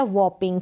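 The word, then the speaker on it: whopping: फिर ये है वॉपिंग, क्या है वॉपिंग, वॉपिंग का मतलब भारी या बहुत ज़्यादा, डबल P है तो प पढ़ेंगे, वॉपिंग भारी या बहुत ज़्यादा।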